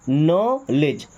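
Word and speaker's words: knowledge: यहां पे D silent. Okay? आपको पता होना चाहिए वर्ड में कौन सा लेटर साइलेंट है। सो यह क्या बन जाएगा? नॉलेज। चाहे तो नॉलेज बोले बट नॉलेज नहीं बोलते। क्या बोलते हैं? नॉलेज।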